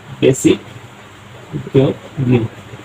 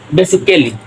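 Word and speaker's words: basically: lease হবে উচ্চারণটা হবে বেসিক লি বেসিক লি কিন্তু আমরা এখানে কি করতাম কি বলতাম বেসিক্যালি না বেসিক্যালি হবে না বেসিকলি আরো কয়টি শব্দ লিখে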